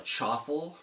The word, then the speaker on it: chaffle: They call it a chaffle, a chaffle, rhyming with waffle.